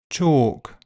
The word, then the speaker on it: chalk: bulge kiln film and L is silent in some words calm palm Arm salmon half chalk talk walk folk yoke would could kernel.